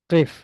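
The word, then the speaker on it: قف: Do we need Hamzatul Wasl? Should I bring Hamzatul Wasl before it? No, we shouldn't, because we shouldn't, because it's, yeah, we can pronounce it. It's not starting with a sukoon or anything, so we can pronounce it. No problem, no problem.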